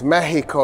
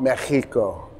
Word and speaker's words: Mexico: Well, they switched the X then from cha to ha, and that's why it's Mexico, not Mexico today, right?